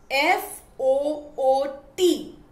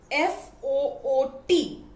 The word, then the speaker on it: foot: long u sound but f o o t is pronounced as foot the short oo sound now i hope that